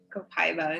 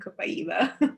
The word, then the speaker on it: copaiba: you say it gigi i say it both ways it depends on the day copaiba and kobayiba okay then vetiver and